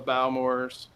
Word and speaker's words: Bowmore: I like the Isla scotches, the Ardbegs, the Lagavulin, the Lafroigs, the Octomore, some of the Bowmores or Bowmore, whichever way you want to pronounce it.